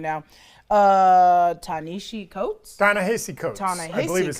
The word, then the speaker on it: Ta-Nehisi Coates: Ta-Nehisi Coates. Ta-Nehisi I believe is how it's Coates.